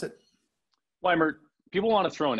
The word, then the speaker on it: Weimert: Weimert, is that how I pronounce it? Weimert.